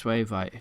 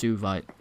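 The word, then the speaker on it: suevite: We get past this Swavite here. Or actually, I believe it's actually pronounced Suvite.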